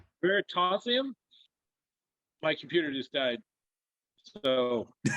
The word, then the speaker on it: Veritasium: USIM. Like it ends like gymnasium.